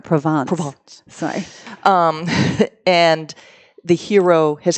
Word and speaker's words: Provence: A good example is that the book that I have out in August is One Night in Provence. Oh, I'm not even saying it right. Provence.